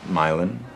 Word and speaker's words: Milan: in a while Milan it's spelled like um Milan Italy but pronounced Milan like Milan Ohio they fell in love